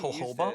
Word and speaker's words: jojoba: It's pronounced jojoba.